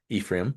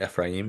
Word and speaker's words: Ephraim: yeah, Ephraim, we would say, but Ephraim is the more correct pronunciation, I guess.